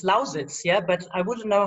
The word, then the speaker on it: Lausitz: It's Lausitz, yeah, but I wouldn't know how to pronounce it in English.